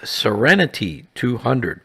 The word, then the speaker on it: Seren T200: This was rebranded as Serenity 200, pronounced like the word serenity.